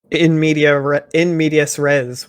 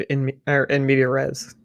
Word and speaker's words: in medias res: I actually didn't know that in medias res was a Latin term. I've only ever heard in media res. Just pronounced completely incorrectly.